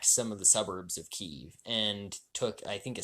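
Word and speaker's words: Kyiv: It used to be called Kiev, but then apparently how Ukrainians pronounce Kiev is Kiev. Russians pronounce Kiev.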